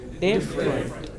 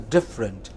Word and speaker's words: different: Different. That is different, not different. Some people pronounce it as different, okay, but it is different.